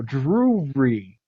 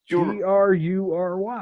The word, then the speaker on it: Drury: I think you're adding like 3 syllables to that. I don't think so. Drury. Drury.